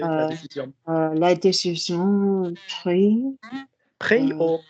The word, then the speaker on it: prise: La décision prise. Pris or pronunciation pris.